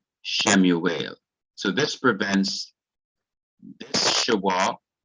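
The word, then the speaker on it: שְׁמוּאֵל: this case is that the wow takes the form of the long vowel shurek. That is our long U, our long U sound. So this is shurek, a long U sound, and it would be written not as we, but as oo, Shemuel.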